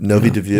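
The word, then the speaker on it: Nový Dvůr: And in the case of the monastery of Our Lady of Novi Dviu, how do you pronounce that? Well, you've done well, that's it. Novi Dviu?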